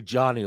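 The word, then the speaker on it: Jonnu: jonu Smith you're like it's literally jonu like John like your name uh anyway start three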